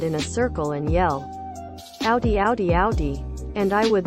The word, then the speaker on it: Audi: one chick from h-i-m-y-m i'll always pronounce audi like a oddie and not how it's supposed to be pronounced like audi when i was a